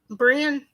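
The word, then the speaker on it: Bryn: brand or how do you say that welcome brand okay welcome that's the first time I seen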